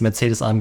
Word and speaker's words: Mercedes-AMG: And yes, Mercedes-AMG is the correct German pronunciation of this name.